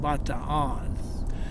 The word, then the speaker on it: Bataan: But one of the worst things that ever happened when the Japanese were there, it's pronounced here Bataan, but Bataan Death March. They pronounce it Bataan, and which is the proper way.